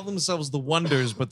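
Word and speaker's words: Oneders: they call themselves the wonders but the way they spell it is o-n-e-d-e-r-s and everybody keeps saying oh needers oh that's why they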